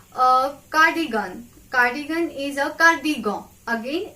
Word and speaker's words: cardigan: Cardigan is a cardigan. Again, it's easy. Only pronunciation is different. It's gon. It's cardigan. Repeat after me.